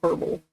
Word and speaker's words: herbal: You're supposed to not say the H in herbal. You're saying herbal.